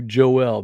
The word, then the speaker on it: Joel: people to call you Joelle because that's the way we pronounce it over here in our little Cajun land so for the people